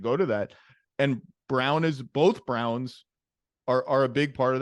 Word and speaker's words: Braun: I know it's pronounced Brown, but it's Braun to me because that's how it's spelled.